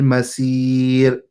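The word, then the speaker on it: مصير: Sad is a heavy letter. So we have to pronounce it as a heavy letter, saw versus si. Okay? Or saw versus sa. There's a difference. So here again, many people make this mistake, is they pronounce it as a sin. They will say wa bi'sal masir, and they just say it very casually. It has to be pronounced as a sad.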